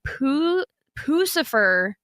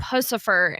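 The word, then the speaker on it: Puscifer: Well, you keep going between Pucifer and Pussifer, and it's driving me nuts. I never say Pussifer. Well, you don't, but Yeah, I think that's how you say it. That's how people say it. But you keep saying it two different ways. I say every time you. Pucifer. Yeah, Pew. pew and then poo.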